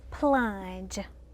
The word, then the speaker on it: plunge: and girls plunge plunge what letters did you circle that make the j sound all right let's check your paper go ahead ms katrina did you circle the g and the e this is one of our new spellings for today and again this is